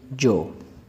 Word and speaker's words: yo: आगे है जी जो। यहाँ पर जो वाई है इसको भी ये की तरह भी यानी कि प्रोनाउंस करते हैं और जीम की तरह भी।